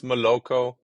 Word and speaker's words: Moloco: of emea at uh Malako did I pronounce it correctly how do you guys pronounce that company name I I guess miloco okay so um yeah